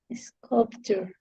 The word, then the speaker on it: sculpture: Sculpture. Excellent. So that's a sculpture, letter C. Yes, exactly. Sí, la pronunciación es skull. La U suena en realidad como una A.